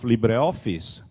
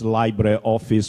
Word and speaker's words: LibreOffice: to be pronounced as library office which is crazy. It the the the word is is from Latin is from li the closest word you can find in English is liberty.